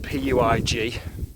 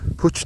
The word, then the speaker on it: Puig: Now Puig is spelt P-U-I-G, and from what I'm told is a Catalan word meaning peak. I'm told it's pronounced Puig, but if you know any different, let me know. And here we are at